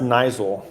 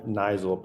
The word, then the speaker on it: Niziol: have a new guest his name is Jonathan nul is that right or how it's pronounced Nel but it's kind ofy because it's not pronounced